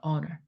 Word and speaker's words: honor: 아니라 이번에는 honor이라고 나왔죠 honor h 음이라고 했어요 the wise the wise